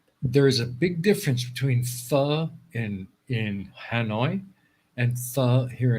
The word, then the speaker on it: pho: It looks like phobo in English, but it's not. It's pho, something like that.